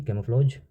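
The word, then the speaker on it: camouflage: Pronunciation है इसकी कैमोफ्लॉज।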